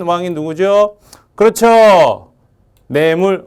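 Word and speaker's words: 내물: 한 왕이 노조 그렇죠 내 물 어 발음 잘해야 됩니다 뇌에 물이 아니고 내 문화 원래 내몰아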